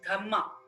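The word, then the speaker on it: Dhamma: dhma in Pali in Pali language DH is pronounced as dhma d h m m a so through his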